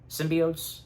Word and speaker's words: symbiote: am I saying it right still symbi symbiot symbiot is that right yes thank you yeah I